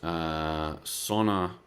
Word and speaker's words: Sanne: Her name is Sonna Lehman. She's Menno Henselman's wife. Sonna Lehman, and Sonna is spelt Sanne.